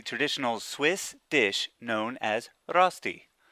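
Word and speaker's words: Rösti: Swiss dish known as rosti which is correctly pronounced as Rusty it's basically hash browns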